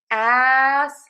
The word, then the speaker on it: asterisk: say the K but a lot of times I hear people drop that K. So technically we are saying asterisk asterisk asterisk asterisk. But when I'm having a general conversation I usually say asterisk and just drop the K.